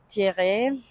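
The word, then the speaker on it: Thierrée: Thierry, French pronunciation.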